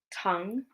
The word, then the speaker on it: tongue: So some letters have a silent U, like guitar, guess, tongue. Okay, so U can be silent.